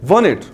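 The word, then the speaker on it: wanted: Just because T remain silent it will become वांटेड।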